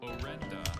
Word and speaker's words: orenda: Your third round word is orenda. Orenda. May I have all the information for this word? Orenda is the only pronunciation.